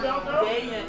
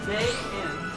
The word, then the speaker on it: Dayan: Is it Dayan? Dayan. It's like day and night. Okay. Day and night. Dayan. You pronounce it like that. Day in. Okay, Dayan. Dayan. Like days in. Okay. It's 2 syllables.